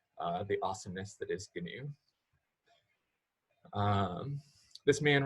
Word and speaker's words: GNU: the the animal but gnu that's one of the sort of shibalus that lets people know like if you're in the club of hacker cultures that you pronounce the g and this gnu project